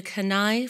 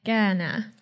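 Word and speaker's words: Kainai: actor and writer she is Blackfoot from the kai First Nation did I pronounce that correctly not even remotely I should have asked before I apologize how should I pronounce it uh Ghana Ghana or the blood Reserve in English yeah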